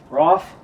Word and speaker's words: Raff: How do you say your last name? Raff? Yeah. Raff, it's Raff. Everybody says Raff, all right.